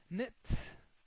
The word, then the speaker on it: knit: you can notice here the K is silent k because when we have K and N at the beginning kit knit as a verb to